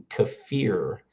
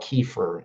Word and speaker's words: kefir: Kafir uh is the proper pronunciation from Eastern Europe. And we call it kefir in America, but kafir.